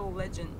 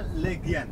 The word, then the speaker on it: Legian: So we're going to we're going to Legend? Is this how you say? Legian. Oh, Legian.